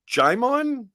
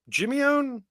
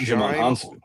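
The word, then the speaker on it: Jimeoin: Uh, Jimon Jimon. Am I looking stupid by mispronouncing this? And it's somebody that I do know. J I M E O I N. Not Jim Hans.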